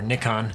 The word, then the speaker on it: Nikon: Uh Canon and Nikon both make or Nikon as it's pronounced around the world except for the US uh have mirrorless as well as point andoot as well as DSLR platforms.